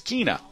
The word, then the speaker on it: Kina: It's not Kine, it's Kina. Sorry about that, Kina.